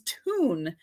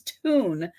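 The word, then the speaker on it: Thun: how to pronounce this it is tune it's spelled t-h-u-n and i wasn't sure about the th so when i did a a little you know internet help me pronounce this word correctly it actually said it was tune so this is a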